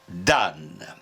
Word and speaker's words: dam: lui il devit dire dame bon ils hésitaent peut-être mais aujourd'hui l'Académie nous dit de prononcer dan conseil que de moins